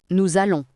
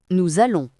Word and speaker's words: nous allons: On dit nous allons. Répétez, nous allons. Attention à la liaison. Si vous prononcez bien, ça fait un son Z entre nous et allons.